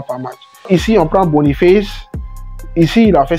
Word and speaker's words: Boniface: Donc, vous prenez Victor Boniface ou Boniface. Ça dépend de comment vous l'appelez. Moi, je prononce en anglais. Ouais, je suis un bilingue. Boniface.